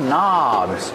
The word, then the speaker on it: knobs: These are called knobs. Remember, with knobs, you have a silent K at the beginning of the word.